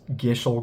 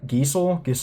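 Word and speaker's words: Gysahl: at reading very well, I have pronounced this gishel greens and it's not. It's G Y S A HL. So I imagine Geil Giles. I don't know.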